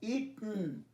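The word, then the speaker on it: eaten: ইট, এট, ইটন, উচ্চারণটা ইএন, ইটন। দীর্ঘ ই, টয় হসন্ত, নয় হসন্ত।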